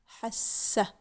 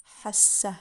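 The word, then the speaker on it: حسّ: Hassa. There's a shadda. So we use two S's in the pronunciation, but not in the writing. That's what shadda means, as we learned. Hassa, he felt.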